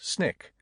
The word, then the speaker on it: SNCC: SNCC, pronounced SNIK. As they settled into small rural communities fighting for voting and other civil rights, these snick workers became the shock